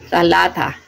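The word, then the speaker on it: ثلاثة: Tapos ang number 3 or tatlo sa Tagalog is talata.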